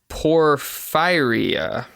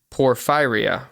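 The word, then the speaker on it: porphyria: a blue purple stool called poror fire poor fire I'm pretty sure that's how you pronounce it it's p o r p h y r i a Poria por firea it is a rare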